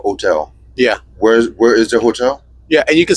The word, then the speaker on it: hotel: So, Yes, you wouldn't pronounce it. So wouldn't it be hotel?